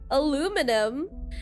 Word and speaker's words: aluminum: Like it's aluminum in American or aluminium in British.